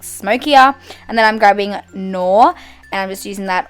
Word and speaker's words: Noir: How do you pronounce that? Noir. Noir.